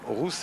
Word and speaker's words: Rous: Eh bien il souhaite qu'on l'appelle Roux. Et puis deuxième raison, il y a un autre Roux dans le peloton qui s'écrit R-O-U-S, un autre français. Donc Laurent Roux préfère qu'on ne le confonde pas avec Didier Rousse. Donc ces deux garçons préfèrent qu'on les appelle Rousse et Roux.